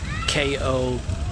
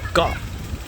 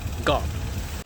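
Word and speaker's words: เกาะ: When Thailand transliterates the word island, they usually write K-O or K-O-H. But this right here, this is the Thai for island, and it's actually pronounced Ga, not ko or cow, Ga.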